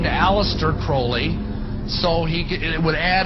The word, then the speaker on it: Crowley: be have his name pronounced crowley to rhyme with holy and uh the satanists